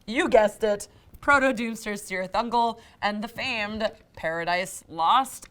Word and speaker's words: Cirith Ungol: brief, on Cirith Ungol, who pronounced their name Cirith Ungol, not Cirith Ungol a la Lord of the Rings, so stop arguing about that shit in the comments.